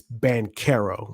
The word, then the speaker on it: Banchero: It's Banchero. When you see the C, you put a K.